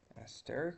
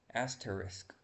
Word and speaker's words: asterisk: like asteric or something. I actually forgot the spelling of this. Asterisk. Oh, okay.